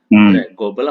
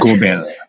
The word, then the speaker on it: Gobel: Global apa Gobel sih? Bacanya. Gobel.